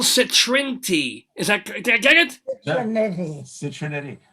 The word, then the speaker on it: Citriniti: CITRINITI. CITRINITI. I always say it rhymes with nitty gritty or itty bitty.